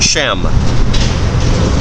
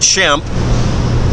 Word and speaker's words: Shem: the book of genesis that's one way of pronouncing it or spelling it shem not shemp it wasn't the three